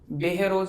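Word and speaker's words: बहरोड़: गांव प आते हैं कैसे प्रोनाउंस करते हैं बेहरोज बेहरोज करते हैं सर बीई एच आरओ बरोज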